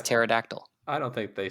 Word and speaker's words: pterodactyl: It's the P is silent. It's pterodactyl.